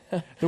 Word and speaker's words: Ye: you see signs like Ye Old shop is pronounced the old shop not Ye Old shop what wow oh that's